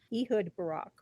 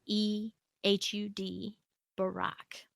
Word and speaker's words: Ehud Barak: say his name hewed Barak he hood hood he hood Barack right Ehud Barak and he is the former Prime Minister of